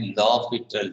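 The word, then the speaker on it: L'Hôpital: known as लॉपिटल rule, ये pronounce करते हैं, वैसे इसकी स्पेलिंग ये नहीं। तो एच भी है बीच में, प्रोनाउंस हम इसे करते हैं लॉपिटल रूल।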